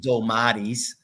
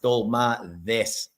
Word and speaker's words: dolmades: It's like this, not dolmades. It's dolmades.